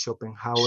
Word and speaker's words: Schopenhauer: No sé de dónde es, pero se pronuncia algo como Schopenhauer, es Schopenhauer.